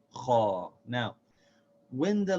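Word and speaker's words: خَ: Now when we get to the kha, we say kha. See how the sound is a little bit different? Instead of pronouncing the fatha light, we don't say kha. See, that would be light. Instead, we say it full or heavy. We say kha, kha.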